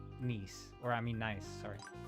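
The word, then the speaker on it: gneiss: Apparently, it's a metamorphic rock and people actually pronounce it like nice.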